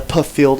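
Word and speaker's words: Pfield: as they call it it's spelt p-f-i-e-l-d because it is flugerville but the puff field as we'll call it well we look forward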